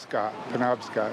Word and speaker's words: Penobscot: How do I pronounce that? Eddie Newell, Newell, Newell. Penobscot, yeah.